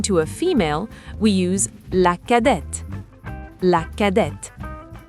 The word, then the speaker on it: cadette: When referring to a female, we use la cadette. La cadette. Here the T is pronounced.